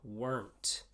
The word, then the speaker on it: weren't: anything to say except check your pronunciation on the word weren't i hear a lot of students try to create a two syllable word out of this it is not two syllables it is one syllable weren't so be careful